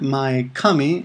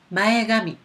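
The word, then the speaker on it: 前髪: hair front hair cut now notice that uh it's gummy right because Kami when when you add a word to the front of Kami it the K turns to G so it's not my Kami it's mayami mayami okay next word shampoo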